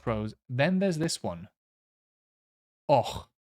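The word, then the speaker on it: Avoch: Och, but you spell it like that. Abach, but you say och.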